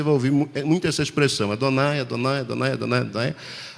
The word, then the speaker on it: Adonai: ouvir muito essa expressão, Adonai, Adonai, Adonai, Adonai, Adonai. Adonai é exatamente essa pronúncia que o judeu faz no nome de Deus, porque ele aprendeu que é assim que as coisas funcionam.